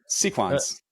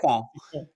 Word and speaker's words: Sequans: Look, I say it the way that their founder says it. Okay. You Yeah. can argue with French people and they're like, the S is silent and it's Yeah. it should be Sure. sequon. I'm like, George says sequans. I'm rolling with that.